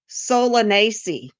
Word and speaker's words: Solanaceae: So, henbane is a highly toxic plant that belongs to again, that I can't pronounce it, but Oh, so go ahead. I looked this up. It is Solanaceae.